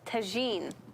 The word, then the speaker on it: tagine: But it's tagine. Tagine? How do you Yeah. spell that?